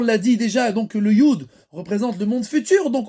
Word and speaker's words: י: et de la lettre Yud, donc le Yud, il représente aussi tout ce qui s'appelle, la prononciation de la lettre Yud, c'est comme Yad.